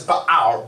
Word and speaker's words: Baal: Now, the right pronunciation is Baal.